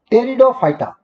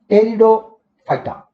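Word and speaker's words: Pteridophyta: टेरिडोफाइटा, इसमें P silent रहता है, टेरिडोफाइटा।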